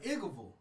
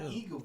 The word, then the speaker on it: Eagleville: No, it's Eagleville, not Eagleville.